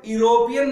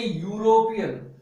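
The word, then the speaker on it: European: तो जैसे इसको हम पढ़ेंगे तो इसको हम यूरोपियन न पढ़ करके इसको हम पढ़ेंगे यूरोपियन. क्या पढ़ेंगे, यूरोपियन इसको हम पढ़ेंगे.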